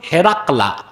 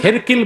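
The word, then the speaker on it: هرقل: তো রোম সম্রাটকে তার উপাধি ছিল কাইসার, আর তার নাম ছিল হেরাকলা। কি নাম? কেউ কেউ হেরকিল বলেছে, কিন্তু আফসাহুল কেরাআ, শুদ্ধ উচ্চারণ হচ্ছে হেরাকলা।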